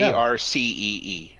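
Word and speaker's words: Arcee: the letter C a rcee okay yep spelled out but it's pronounced RC like the remote control also she was one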